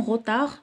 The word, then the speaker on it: retard: Si vous arrivez en retard, donc on a dit D, vous ne pourrez pas signer cet accord, donc D à la fin.